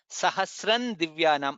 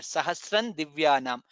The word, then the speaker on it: सहस्रं दिव्यानाम्: Sahasran divyanam. Nakara comes there. Sahasran divyanam.